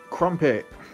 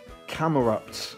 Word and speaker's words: Camerupt: of funky alright so the rare is crumpet or camerupt as is correctly pronounced but I've always called it crumpet because it's easier to say that's the rarer to